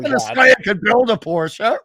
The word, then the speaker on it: Porsche: So, you know, you could have a $200,000 Porsche, as it's properly pronounced.